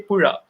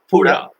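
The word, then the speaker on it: പുഴ: So river we used to say Pura. Can you pronounce that? Pura. Yeah. It's from, there is some vibration from your epiglottics. So it's like Pura.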